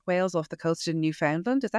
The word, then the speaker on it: Newfoundland: We'd say Newfoundland. Newfoundland. That's it.